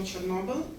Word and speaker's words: Chornobyl: Bogart, The Babushkas of Chernobyl, and Chad Garcia's The Russian Woodpecker. One remark, I pronounce Chernobyl according to Ukrainian phonetics, and for me it is Chernobyl.